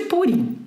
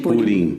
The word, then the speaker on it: Purim: Purim ou Purim é sempre o grande problema. Do ponto de vista linguístico, purista, seria Purim, mas a hegemonia Ashkenazi venceu. E como Ashkenazim pronunciam as coisas como paroxítona, então virou Purim.